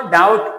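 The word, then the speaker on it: doubt: इसको डाउट पढ़ते हैं। ये बी इसमें साइलेंट है।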